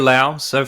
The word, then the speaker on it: Laos: Laos, Pretty am I pronouncing good. that right? Yes, it's Laos with the Lao people.